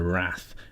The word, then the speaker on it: Rath: new rda from vanderbilt this is the wrath but it's spelt r-a-t-h um it looks like